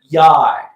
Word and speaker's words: YY: And then it's spelled YY, and the manager for the team basically said it rhymes with high. So I'm thinking it's Yai.